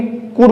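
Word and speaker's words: could: M हो, तो हमें एल को साइलेंट करना है। तो हम एल को जब साइलेंट करेंगे तो क्या बोलेंगे, कूड बोलेंगे, क्या बोलेंगे इसको, नो कूड, कोई दिक्कत नहीं, एल को हम प्रोनाउंसिएट नहीं करेंगे, ठीक है।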